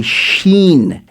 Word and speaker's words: Shin: It's called a Shin, S-H-I-N. That's how it's pronounced.